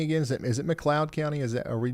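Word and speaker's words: McLeod: Is it Is it Mloud County?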